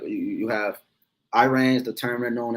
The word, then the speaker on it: Iran: So when you go into the history around 1935 is where the name changed from Persia to Iran or Iran, is really how you say it, Iran.